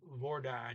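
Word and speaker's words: hvordan: they spoke hei lordon is silent h v v-o-r-d-a-n but notice that this that's the word for how but you say how many you don't use vordon you use just war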